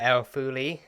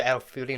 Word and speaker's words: El-Faouly: So yeah, and we discover the history about her father, Abdullah El-Faouly. So El-Faouly, not El-Faouly. I think I don't know